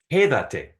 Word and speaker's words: quédate: So it's quédate. And you have to put the emphasis on the third to last syllable when that extra te is attached. And that's why you have that accent mark there.